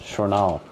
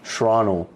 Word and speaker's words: Shranal: Yeah, for those at home, my name isn't pronounced Shranal. That's how the white folks say it. It's pronounced Shranal. And I'm only finding this out like after 10 years, bro.